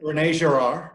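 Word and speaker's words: René Girard: Rene Girard, yeah, Girard.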